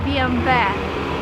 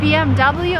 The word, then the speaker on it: BMW: pronouncing wrong is bmw this is a german car and in germany you would say bmv but if you're in america and you want to sound american it's bmw and no other options bmw i have a